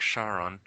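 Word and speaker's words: Charon: sense doesn't anybody know if it's if the moon's pronounced char on our char on do you know if it's a sure shot I think it's char on is it char on Cheryl it's more like Sharon okay I wasn't I'll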